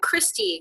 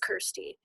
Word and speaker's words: Kirsty: my name, they're like, Christy, Krusty, Kirsty. Like, and I'm like, no, it's just Kirsty. Like, so I'm like, it's Kirsty. It rhymes with thirsty.